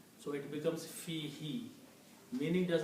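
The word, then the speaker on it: فيه: together, in the pronunciation, this who is pronounced as he in the tajweed, so it becomes fi he. Meaning does not change, but it is pronounced as fi he.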